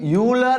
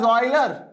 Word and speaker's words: Euler: sir you are saying euler as euler guys in india we pronounce it as euler but the right way to call it is euler okay so it is